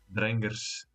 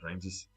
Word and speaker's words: Dranger: Drangers, not Rangers, pronounce it correctly. Not on his English, it's Dranger.